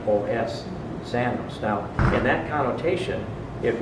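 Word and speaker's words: ξένος: was used in place of stranger is xanos it's spelled XE n oos zanos now in that connotation it means invited guest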